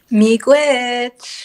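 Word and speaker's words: miigwech: how do you say thank you in anishinaabe meek witch meek witch thank you so much mikwich what a wonderful word i think everyone should try saying it me gwitch meek witch witch awesome and then how do i say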